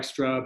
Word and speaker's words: Strüb: It looks like Strub. It's pronounced Strub.